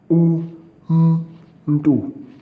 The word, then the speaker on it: umntu: So if the letter M does not come before a vowel, then it becomes a syllable in itself. U, m, ndu.